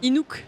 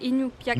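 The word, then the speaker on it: Iñupiaq: Inouk. Inu- Non, c'est Inupiaq. En fait, Inupiaq.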